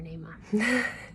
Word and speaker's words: Naamah: And I've heard people pronounce her name like Naamah or Naamah or something, but Naamah. But I call her Naamah.